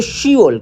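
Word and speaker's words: 시월: बोल है ना शिप वैसे तो शिप कहते हैं 10 को मगर जब इसको फिप जो है ना वो साइलेंट हो जाता है कट जाता है कोरियन जबान में इसलिए इसको शी वल कहते हैं शी वल के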